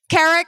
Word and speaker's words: Keric: I'm really thrilled to introduce you to Carrick here with the margato auto group and I